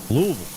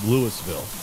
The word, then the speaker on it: Louisville: Well, my whole life and I've always pronounced it without an S. Louisville. Not even Not even Louisville. The S is still S is still silent on that Louisville. Like no one calls it Lewisville.